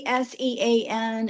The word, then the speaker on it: ACEN: At the conference that I was recently at, there was a woman from I think it's pronounced ACEN. It's as sen and they have a journal, the ACN ELT journal, Scopus Index and everything.